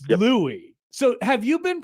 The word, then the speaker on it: Louis: Um and it it it said that it he tweeted at you and he said this, "You don't say the S in Louis in Julia Louis-Dreyfus. It's Louis."